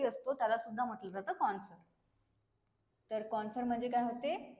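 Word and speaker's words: connoisseur: एस य आर तर याच प्रोनन्सिएशन काय आहे कॉन्सर ओके याच प्रोनन्सिएशन आहे कॉन्सर याच मिनिंग काय आहे तर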